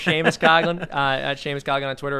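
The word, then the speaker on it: Seamus Coughlin: on twitter yeah it's spelled see mrs coughlin pronounced sheamus coughlin uh james cogan on twitter or just look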